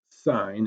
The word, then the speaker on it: sine: trig ratios okay so the sine this is pronounced sine it's actually spelled s I and II but